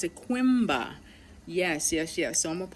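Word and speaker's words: Coimbra: So I actually consigned in the city of Simba. Yes, no, how you pronounce it? Quimba.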